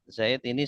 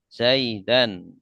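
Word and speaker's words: زيدًا: Zaid ini sebagai objek jadi karena dia sebagai objek maka harus nasab. Nasab itu akhirnya fathah. Zaidan tidak zaidun atau Zaidin ya dibacanya Za zaidan.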